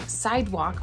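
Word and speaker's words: Cydwoq: like a subset of a brand called sidewalk which is spelled crazy c-y-d-o-q or something like that and these retail for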